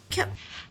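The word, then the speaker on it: Koepp: novel of the same name by screenwriter David Ke. Keep how do you pronounce it?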